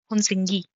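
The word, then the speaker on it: Hunsgi: तो जो दूसरी साइट है वो है हुनसिंगी। अच्छा, इसका pronunciation, I am sorry if आई am pronouncing it wrong. सो इसको हुनसिंगी भी बोलते हैं, हुनसी भी बोलते हैं, जिसमें जी साइलेंट हो जाता है।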